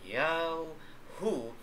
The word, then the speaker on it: Yahu: YHWH in English alphabet, na ang tamang pagpronounce ay Yahu, ay unang binanggit sa Hebrew Bible noong sa Genesis chapter 2 verse 4.